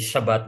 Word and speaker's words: Shabbat: Sabi po ng pag-aaral, the word the word Shabbat, ano po, sa Hebrew, ang pagkaka-pronounce po nito ay Shabbat, ano po.